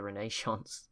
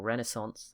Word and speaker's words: Renaissance: There's been some Qing and the Mughals have both embraced the Renaissance or Renaissance. They've been told I was saying it wrong. The Renaissance.